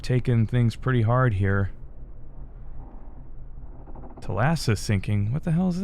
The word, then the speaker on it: Thalassa: The Thalassa, they Okay, so it's pronounced Thalassa, I guess.